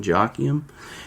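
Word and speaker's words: Joachim: J O his middle name is spelled J O A C H I M Jockim.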